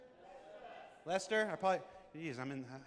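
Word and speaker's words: Leicester: How do you say, is that Leicer? Lester. Lester.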